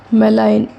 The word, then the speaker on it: malign: MALIGN, जी silent रहता है ना इसमें।